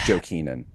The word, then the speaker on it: Jokinen: It's pronounced Jokinen.